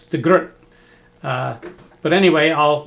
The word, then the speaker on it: de Groot: I was told it's de Groot. But anyway, I'll mispronounce it de Groot for the second.